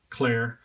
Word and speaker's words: Clerc: So I contacted CLERC, and they explained to me that the last C in the brand is silent.